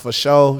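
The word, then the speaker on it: fasho: at Sugar dunker to f-a-s-h-o so that's pronounced for show shout out to Omar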